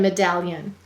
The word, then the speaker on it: medallion: We will say to spell me-dal-lion. What will we say to spell? Me-dal-lion. All right, I'm exaggerating it. Let's go ahead and sound it out. The first syllable is me. M-e. The second syllable is dal. D-a-ul. The third syllable is lion. Ul. Ya. Use an I-E-ya. A-n. Me-dal-lion. You've got it. Go ahead and write it. And once again, I'm exaggerating it so you can hear it.